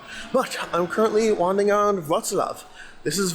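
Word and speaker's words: Wrocław: so it looks like rla rla but it's pronounced RAV which is one of the few Polish names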